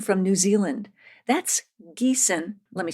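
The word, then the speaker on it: Giesen: shows starting with Geeson from New Zealand that's Geeson let me spell it out for you g i n so it looks like you might want to say G but it's actually pronounced Geon just as redel glasses spelled r i e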